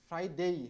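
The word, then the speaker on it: Friday: ফ্রাইডে, ফ্রাইডেই, হ্যাঁ, শেষে কিন্তু এ ওয়াই থাকলে বাংলা এই এর উচ্চারণ হয়, এই। হ্যাঁ, তাহলে এ ওয়াই থাকলে এই হবে, কখনো যেন ডে না হয়ে যায় এটা।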